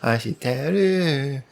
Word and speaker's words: 愛してる: It made the persistence of that line much more fun, because he's kind of over and over saying, Aishiteru. I didn't pronounce that right. Aishiteru.